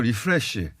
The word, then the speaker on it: 리프레시: 그러니까 이렇게 변화를 줘가지고 팀이 좀 리플레시 될 수 있는 그런 가능성을 좀 보여줬고 이승우 선수도 제가 봐서는 일을 안 먹고 리플래시가 아니고 뛰더라고요. 리프레시. 아 예. 불러주는 데가 없다 보니까 발음까지. L과 R을 구분해 주시고 그렇게 알고 계셨던 거 아니에요?